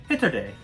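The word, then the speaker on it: ヒトデ: because of a pun in japan man is pronounced hitto and starfish pronounced hitode they sound kind of similar so a starfish can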